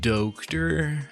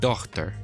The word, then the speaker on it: daughter: Wait, so daughter would have been pronounced dokter? Daughter was most likely pronounced something more like Tochter. We know that because other languages related to ours have words like German's Tochter.